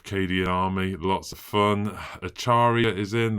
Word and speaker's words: Acharya: Acharya is in. That's the official correct pronunciation of Acharya from now on.